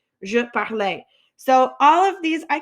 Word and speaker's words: parlais: So we've got je parlais, je parlais. So all of these, I can write out what these sound like too. All of these sound like A.